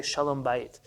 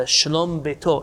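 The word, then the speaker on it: שלום בית: in america they say shalom bait shannon bait means hello house or shanomba it means a peace in the home once it's attached to another word it can't be pronounced anymore shalom shalom is on its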